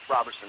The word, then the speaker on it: Roverson: Am I pronouncing that right, Roverson? Roverson, yep.